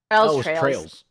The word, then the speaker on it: Trails: It's like a Oliver Rees-Ainer from Trials of Cold Steel. I mean that's that Trials. Am I saying it? It's Trials, right? Trails. Trails.